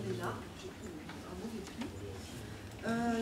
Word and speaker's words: Leenhardt: D'ailleurs, vous m'excuserez parce que des fois je prononce très mal son nom, parfois je dis Lénart, au lieu de dire Lénard, j'ai pris un mauvais pli.